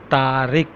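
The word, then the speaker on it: طارق: Tariq, but we say in Urdu Tariq. Toe, alif, re, qaf.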